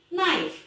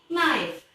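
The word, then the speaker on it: knife: kemudian ada nice nah ingat ya bacanya hanya dihilangkan jadi nice bukan nice yang artinya install kemudian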